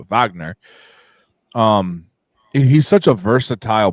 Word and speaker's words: Wagner: found out that it's Vagner it's not it's a w but it's pronounced uh Vagner um he's such a